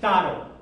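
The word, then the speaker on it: taron: So, for example, here's the word taro, which means hunt. Where is the stress? Listen, taro. Taro. First or second?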